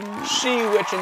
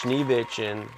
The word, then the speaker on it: Schneewitchen: It's Schneewitchen 9000. Schneewitchen? Schneewitchen. Schneewitchen. It's German for Schneewitchen Snow White.